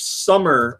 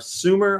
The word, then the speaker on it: Sumer: aboard is on switch summer or Sumer I guess it's pronounced because it's about Sumerian Nobles that's all switching super